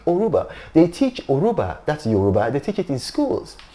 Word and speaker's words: Yoruba: that it was Yoruba because the why is silent maybe because for a long time they or they speak Yoruba with a Spanish accent so it's uruba Aruba and it's not